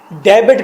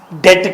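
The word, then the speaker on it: debt: पहले डेबिट कहते थे पैसे को, कर्ज को, अब डेट कहते हैं।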